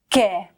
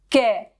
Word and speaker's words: què: Fixa't que aquest que es pronuncià de manera molt diferent a l'interrogatiu què, que és tònic. que què També es diferencien quan